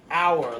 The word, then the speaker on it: hour: this doesn't say anything the H is silent here so hour like it's going to